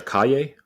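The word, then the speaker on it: Calle: name again probably but two Wells two Wells make a y sound come on now two L's make a y so it's Sasha Kaye aye she was awesome like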